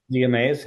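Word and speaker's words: Zea mays: Is it pronounced Zia Mays? Zia Mays, yeah.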